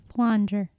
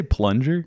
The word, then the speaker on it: flanger: Flanger. Oh, did you say plunger? No, I said flanger.